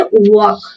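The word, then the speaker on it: walk: যদি বলি ওয়াক, ওয়াক, ওয়াক, ব উচ্চারণ হবে, ব উচ্চারিত হচ্ছে ওয়াক, ওয়াক, এখানে এল কিন্তু সাইলেন্ট থাকবে, এল কি সাইলেন্ট থাকবে, ওয়াক, এবং এই এ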